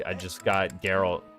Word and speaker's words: Geralt: Cousin woman calls him Gerald and he corrected her to Geralt.